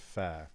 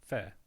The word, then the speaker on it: FFAIR: So it then came out as fair with a double F pronounced V in in Welsh.